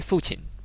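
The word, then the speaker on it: 父亲: we prefer two syllable words two or three syllable words so if you just say father you say fuchin it's just say mother you say mo chin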